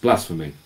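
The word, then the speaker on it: blsforme: And because it's systemd related, it also is pronounced blasphemy. Because why would you not?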